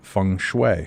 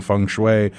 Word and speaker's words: feng shui: the ancient art of fun am I pronouncing that correctly David yes you are fun Fang chop I can't